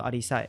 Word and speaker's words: 阿里史: 即个字，所以咱是嘛是照原本的发音伫念对啊，念做阿里赛，较无共款阿里赛社。